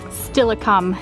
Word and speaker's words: Steilacoom: sweet old lady about stillicum is how she said to pronounce it we got to make